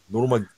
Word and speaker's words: Nurmagomedov: You let the fucking Russian pronounce it. Nurmagomedov. Oh, fuck. I can't remember. Nurmagomedov.